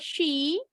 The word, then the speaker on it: she: Ini tadi bacanya sama, bunyinya S semua. Harusnya SY. She, agak monyong. Ingat aja lagi gusir ayam.